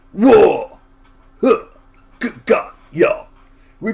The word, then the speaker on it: orc: So when they're saying wog, it's not wog, it's whoa! Like, whoa!